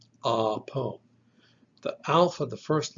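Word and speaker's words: ἀπό: three letters, alpha, B, omicron, spell the word apo, apo. The alpha, the first letter, is pronounced ah.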